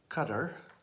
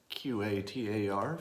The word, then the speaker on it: Qatar: here's what I don't the tiny country of Qatar qadar for those of you who have only read the word and wondered how to pronounce it I don't think I'm pronouncing it right either but let's let's call it Qatar for now I you may pronounce